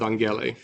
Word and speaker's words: Angela: Next, I want you to subscribe to this YouTube channel called Alpha with Angela. We'll have, or as she pronounces it in Greek, Alpha with Angele.